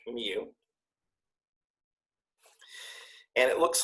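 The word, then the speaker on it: μ: a cute little kitten mew mew mew so it's a lower case greek mu and it looks like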